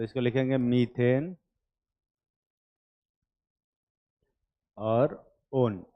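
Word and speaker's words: -one: ओन। है ना? वैसे दिखने में ये वन जैसा है, पर जब इसको किसी नाम के पीछे लगाते हैं तो इसका प्रोनाउंसिएशन ओन जैसा होता है, वन जैसा नहीं।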